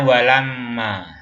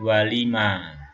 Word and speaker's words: walamma: Sini bacanya walamma ya, sini walamma. Bukan walima, bukan walama, tetapi walamma.